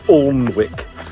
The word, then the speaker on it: Alnwick: When you hear Alnwick mentioned on TV and radio, you hear them pronouncing it as Alnwick, and the River Aln. Allenmouth, Alnwick, the River Allen, that's how you pronounce it.